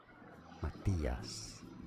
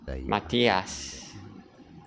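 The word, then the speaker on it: Matías: Spanish, this name is pronounced as Matias. Matias. On the eyes.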